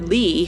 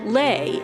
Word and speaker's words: Leigh: While everyone called her Lee, her name was really supposed to be pronounced Lay, as she explains in this interview.